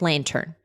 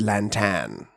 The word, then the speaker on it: Lantan: save her island called Lantern. I believe it's Lantan. It's spelled Lantan, yeah.